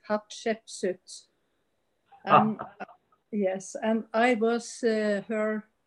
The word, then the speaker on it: Hatshepsut: And I want to tell you what goddess, you couldn't pronounce the name, it's Hatshepsut.